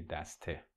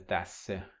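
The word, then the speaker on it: دسته: They would say daste. But the same Persian speaker, when they speak fast, they do something interesting. They pronounce it as daste. You have seta becoming sesa.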